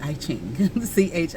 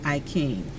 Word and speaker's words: I Ching: I thought it said I Ching, Ching, but it's pronounced King, I King.